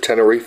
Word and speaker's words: Tenerife: So, all right, your family goes back to, yeah, how do you pronounce it? Tenerife?